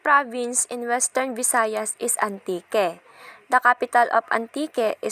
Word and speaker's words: Antique: influenced by the French recorded the region's name as hanti which was then read as Antique silent age locals then pronounce the name into its present name Antique so ang Antique ay